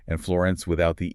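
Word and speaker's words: Firenze: of that first book, the narrator does not pronounce the E in his name. So, it's not Florence, it's more like Florence.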